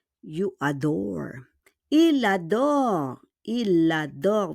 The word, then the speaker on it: il adore: Il adore. We need to do a liaison.